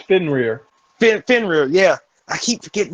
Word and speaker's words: Fenrir: It's Fenrir. Fenrir, yeah. I keep forgetting his. I can't pronounce his name right.